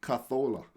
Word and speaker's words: Cazorla: You know, you got to say it properly. Cazorla.